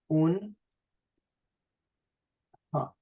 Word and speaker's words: آنها: So this ānhā in spoken Persian becomes ānhā. Let's write it here. Un, ha.